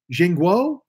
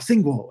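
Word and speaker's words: Xingguo: And so I even said, I go, Jingguo? And I think it was Zing. I think he pronounced the X like a Z in China. He goes, oh, Zingguo.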